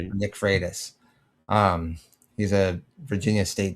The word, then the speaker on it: Freitas: Uh Nick I don't know how to pronounce his last name. Nick Friaultis? He was uh a politician in Virginia. I don't know. Um Nick Freitas. That's it.